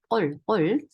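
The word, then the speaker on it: قل: 이거 쿨 아니고 꼴. 아 발음 잘 해주셔야 돼요.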